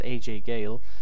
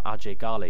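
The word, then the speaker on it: Ajay Ghale: if you prefer that basically there's two pronunciations for his name and both of them are correct because he is referred to as aj gayle in the game but also aj gali you know rj garli of course would be the native pronunciation the karate kind of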